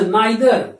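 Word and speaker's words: neither: अच्छा, नाइदर या नीदर दोनों कहते हैं, इसका प्रोनाउंसिएशन दोनों, नाइदर नीदर दोनों सही है।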